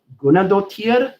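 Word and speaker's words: Guðnadóttir: I don't know how to pronounce her last name still. Hildur Gunnadóttir, I believe is how you pronounce her last name.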